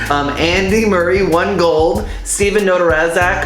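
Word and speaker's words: Nedoroscik: Steven Notarazak, or whatever, Notarazak, how do you say his name? Neterzak.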